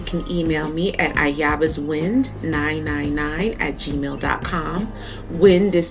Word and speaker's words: Wynd: Wind is spelled W-Y-N-D.